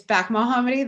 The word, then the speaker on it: Bekemohammadi: It's Bekemohammadi. The second E is silent. It's there to trick you, but really there's just too many letters in it.